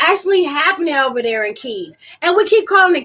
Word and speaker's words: Kiev: Because y'all need to be pronouncing the correct way. It's Kiev.